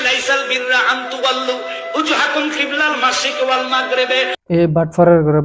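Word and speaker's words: قِبَلَ الْمَشْرِقِ: খিব খ ওই কফ ওই খ হরফ চেঞ্জ করছে বন্ডর বাচ্চা বন্ডয়। তারপরে কিবলাল মাশরিক ওয়াল মাগরিব, কফ সে ওইখানে কাফ পড়ছে। কফ আর কাফ উচ্চারণই বুঝে না, কিভাবে করতেব সেটার তফাতই বুঝে না।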